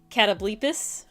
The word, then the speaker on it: Catoblepus: Cinder says Catoblepus. Catoblepus. That's I how don't it's know.